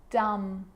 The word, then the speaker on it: dumb: It's always silent when it follows the letter M. Climb, crumb, lamb, thumb, dumb, and plumber. So practice them with me. I'm not pronouncing the B, I'm just pronouncing the M consonant sound.